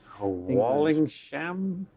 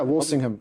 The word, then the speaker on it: Walsingham: about state spycraft in in Elizabeth the First's Walling sham yeah Walsingham wallingham yeah so you don't actually get to